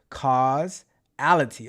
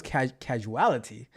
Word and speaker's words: causality: And Magnus says causality. Oh, okay, that's how you say it. I thought it was casualty.